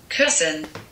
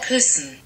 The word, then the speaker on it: Kirsten: if it celebrates so this is how most native English speakers would pronounce this word Kirsten Kirsten this is how like literally you would say it in English but in German you're not meant to say it like that you mean to say it person person person person it's